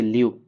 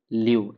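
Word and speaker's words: leu: के किनारे स्थित है और इसकी करेंसी है ल्यू ल्यू एल इ यू लव ठीक है ये भी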